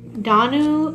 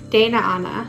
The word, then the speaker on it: Danu: So we have, I think Danu, or I think there's another pronunciation to it, but very cool devotion to her.